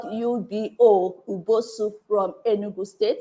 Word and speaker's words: Ubo: It's spelled U-B-O, Ubo Soup from Enugu State.